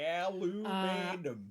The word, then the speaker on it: aluminum: Also, how do you think you spell it? Aluminium. Raised in America, so say aluminum.